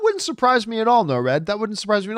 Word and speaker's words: Nord: Next up, Jackmaster Nord writes, Nord is pronounced no-red. Oh, not Nord, one of two.